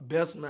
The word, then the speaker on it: Bessemer: okay now you're actually from how do you pronounce it Bessemer Alabama Bessemer Alabama you got it okay which is actually